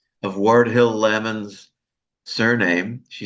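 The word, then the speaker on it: Lamon: According to our member Michelle Craell about the pronouncing pron pronunciation of Wardill Lammon's surname, she says that according to JG Randall, Lmon's daughter Dorothy pronounced Lammon to rhyme with salmon.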